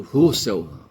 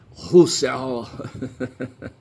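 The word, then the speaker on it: Husserl: O o Heidgy e o Edmundo Russell Russell. Tem um RL no final, sabe? é difícil de pronunciar o Russell.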